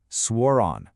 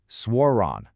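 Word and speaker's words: suoraan: Kind of like the English word swore and then ron. Swonon. Say it with me. Swronon.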